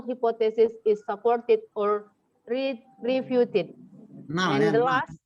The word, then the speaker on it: null: Fourth, decide whether the null hypothesis is supported or refuted. Nal And ya, the nal. last, Bacanya nal bukan nul, nal.